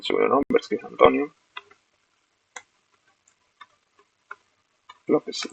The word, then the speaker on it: López: Perdón, me equivoqué, ese es el sobrenombre, es que es Antonio López, López con acento en la O, Contreras.